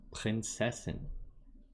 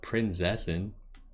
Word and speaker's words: Prinzessin: She pronounces her Z's all wrong. Prinzessin. Not Prinzessin. That ain't right.